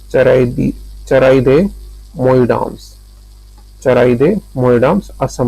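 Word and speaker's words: Charaideo Moidams: ठीक है, भारत की 43वीं यानी कि 43rd विश्व धरोहर स्थल थी चारादियो मोइडाम्स जो असम में है। इसका प्रोनाउंसिएशन क्या है, मैं एक मिनट, चराइदियो मोइडाम्स असम में है। ठीक है, चराइदे मोइडाम्स, चराइदे मोइडाम्स असम में है।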